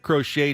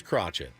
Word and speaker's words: Crochet: Your name's Crochet. It's spelled Crochet. That's how we're going to Kind of like pronounce Bob Cratchit from A Christmas Carol. Kind of like Crotchet.